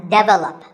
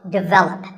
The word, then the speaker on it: develop: number 42 is develop this is pronounced wrongly by many learners of english as develop but the first syllable is actually de and the stress is on the second syllable so develop our next word is